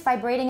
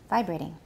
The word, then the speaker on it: vibrating: vibrating vibrating please nobody actually it's vibrating in british so it's not that bad a mistake but since we're doing american stress is on the first syllable vibrating and vibrating as in